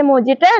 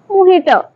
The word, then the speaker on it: mojito: മൊജിറ്റോ order ഒക്കെ ചെയ്യാം, പക്ഷെ മൊജിറ്റോ അല്ല. അവിടെ മൊഹിറ്റോ.